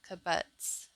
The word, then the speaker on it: kibbutz: robot hives in israel kabutz is how you say it hope to keep bees